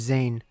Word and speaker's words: Zane: Oh, not really relevant to this at all, but ever since I watched the Alchemist Code movie, I've been saying Zine instead of Zane.